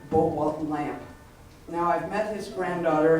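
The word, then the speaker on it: Lampe: really fell in love with this J Bwalt lamp. Now, I've met his granddaughter and it is pronounced lamp and the J stands for Jens.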